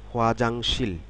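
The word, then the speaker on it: 화장실: হাকসেং ছাত্র এরপরটি রয়েছে হোয়াজাংশীল খোয়া জাংশীল হুয়াজাংশীল হুয়াজাংশীল খেয়াল করুন হুয়াজাংশীল শব্দটি তিন ছিল হুয়া একটি জাং একটি শীল একটি হুয়াজাংশীল হুয়াজাংশল হুয়াজাংশীল শব্দের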